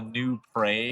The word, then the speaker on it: New Prague: So, fun thing about some Minnesota cities, they're named after European cities, but we pronounce them differently, and I think it's ridiculous. We have something called a new prey. Yes, I pronounce it new Prague.